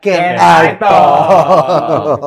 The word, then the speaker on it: Canitalk: Kanitok apa Can I Talk nih bacanya? Kanitok bisa dibaca Can I Talk.